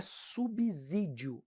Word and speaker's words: subsídio: isso é vamos lá a palavra subsídio possui som dizer pessoal desde já não é subsídio é subsídio subsidiar som de c as palavras sintaxe